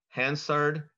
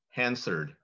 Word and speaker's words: Hansard: Your word is, has two correct pronunciations. Hansard, Hansard.